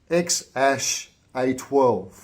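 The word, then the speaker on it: X Æ A-12: Apparently, it's pronounced X-A12.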